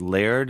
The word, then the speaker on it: Laird: What Laird? Is that how you say it? Yeah, um Mike Laird.